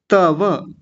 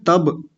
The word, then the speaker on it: तव: और ये ब नहीं है, कभी कुछ लोग बोल देते तब, तब कहते हैं, तब, ब बकरी वाला जो होता है वो नहीं बोलना, तव ऐसा कहना है, तव।